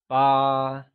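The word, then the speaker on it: 八: 8 is ba, pronounced with a high level tone, like ba.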